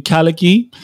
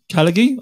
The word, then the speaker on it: Khalighy: Did I pronounce that correctly? That's very correct. Khalighy, I didn't smash it. Khalighy?